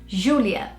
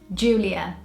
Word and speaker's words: Júlia: But in Portuguese or in Brazil, we would say it Júlia. And in Britain, we would say it Júlia. So the J sound is very different. The Brazilian one is more of a J sound and the British way is more of a J.